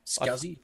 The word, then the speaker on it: SCSI: right the right spelling SCSI is it what we're talking about scuzzy people pronounce it that way this small computer system